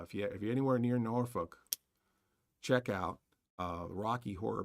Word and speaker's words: Norfolk: norfol we don't drink we don't smoke norol Norfolk right that that's or that's the that's something like that norfol that's how it's pronounce North Folk um uh so go see